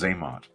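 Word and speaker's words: Xamot: It's pronounced Zaymot.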